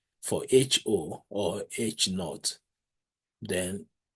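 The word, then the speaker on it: H₀: We are going to pronounce it as H sub A. HO will be H naught.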